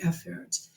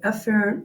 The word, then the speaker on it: efferent: I don't blame you, because it is also very correct to pronounce it afferent and efferent. It's just that when I'm lecturing, the word afferent and the word efferent really sound a lot alike.